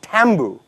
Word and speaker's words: tambu: The word taboo is actually a Solomon word. It's actually pronounced tambu.